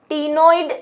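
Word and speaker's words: ctenoid: दूसरा, इनके शरीर पर साइक्लोइड स्केल्स, कहानी में ट्विस्ट, टीनोइड स्केल्स, यानी कि देखिए टीनोइड की स्पेलिंग में सी आता है, ये गलत नहीं है, सही है, सी साइलेंट है, ठीक है।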